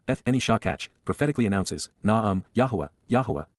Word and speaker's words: Yahowah: And she ignored and forgot me, Eth Eni Shakach, prophetically announces, Yahowah, the proper pronunciation of Yehovah our Eloah, God as directed in his Twrah, teaching regarding his Hayah existence in our Shalom WM, restoration.